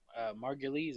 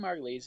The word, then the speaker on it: Margulies: also in the news julianna margulies of margulies i believe is how you say her name of The Good Wife